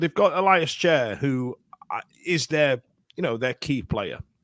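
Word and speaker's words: Schär: They weren't pronouncing it Chair. They were pronouncing it like, I don't know, Scherer or whatever. And I remember thinking, that's very weird. I just assumed it was Chair.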